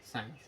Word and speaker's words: sin: तरह से लिखा जाता है एस आई एन साइन ठीक इसी को अब sin इस तरह से